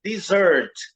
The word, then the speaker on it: dessert: E a sílaba tônica é a segunda, é dessert.